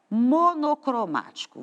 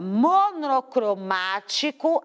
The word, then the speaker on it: monocromático: sílaba penúltima sílaba antepenúltima quando eu leio a palavra monocromático a mais forte é o mar por isso ela tem acento todas as vezes que